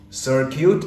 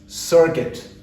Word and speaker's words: circuit: he was buried he was buried it's not Sur cute it's circuit so there was a short circuit circuit so